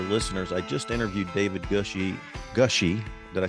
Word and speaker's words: Gushee: For those of you who are regular listeners, I just interviewed David Gushee.